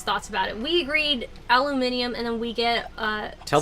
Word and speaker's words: aluminium: saying that impression so do you think it should be pronounced aluminum or aluminium aluminium because that's what was agreed upon Americans